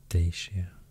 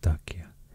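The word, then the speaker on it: Dacia: usually maybe thracia talmasia dashia but i think the roman pronunciation is more like dakia dalmatia tarakia and the roman pronunciation is more more close to the swedish how i would pronounce it if i see the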